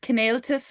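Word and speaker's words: Cineáltas: Is it pronounced Cnáltas?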